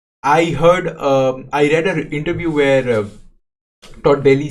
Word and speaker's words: Todd: I keep mispronouncing his name as Ted, but it's Todd, right?